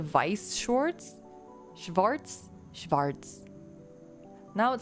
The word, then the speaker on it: Weiss Schwarz: Isn't Schwartz correct? That's how... Oh, is it Vice Shorts?